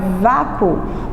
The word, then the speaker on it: vácuo: Porque quando eu pronuncio a palavra vácuo, o U ele some.